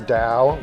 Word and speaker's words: Tao: hi my name is Dao my boss here it's called Tao but pronounced with a d Dao um I've lived